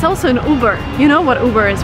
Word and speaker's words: Uber: It, again, you do not follow American pronunciation rules here. You just say Uber.